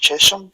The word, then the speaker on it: Chesham: And I'd say this is pronounced Chesham. That's right, yep.